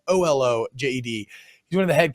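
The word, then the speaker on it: Olojede: I thought that Zion Olajede, and I apologize, I'm pronouncing his last name wrong. I'm sure it could be Olajede. It's Olojed.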